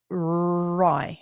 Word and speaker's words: Rye: It's pronounced like R Rye. So okay, Rye. Okay, hopefully I've got that right. Because I would have gone with Ray.